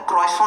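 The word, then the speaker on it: croissant: आठ साल खाने के बाद पता चला था टी साइलेंट होता है। अभी मेरी बेटी ने मुझे टॉक टोक के बताया कि आई भी साइलेंट होता है। कि पापा क्रोसो होता है। क्रॉसो नहीं होता है। क्रॉसो मत बोला करो यार। क्रोसो बोला करो।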